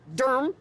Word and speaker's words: Durham: We are in Durham, D-U-R-M, as they pronounce it here.